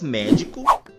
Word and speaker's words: médico: Percebam que nessas palavras nós pronunciamos a antepenúltima sílaba com mais intensidade, pois nós falamos da seguinte maneira. Médico, hóspede, matemática, árbitro, clínico, hipopótamo.